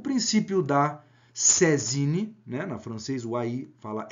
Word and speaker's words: saisine: segunda pergunta aplica-se o princípio da sé zine né princípio francês se escreve saisine está entre aspas porque é uma expressão francesa lá do código civil